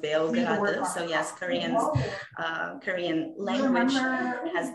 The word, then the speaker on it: Beograd: The capital of Serbia is Belgrade, but actually in Serbian, it's pronounced Beograd, and also in Korean, it's pronounced Beograd.